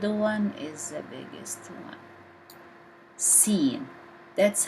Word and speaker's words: س: Sad, pronounced as deep S, because it's not technically like seen. Seen pronounced as S, but Sad pronounced as a deep S, like so.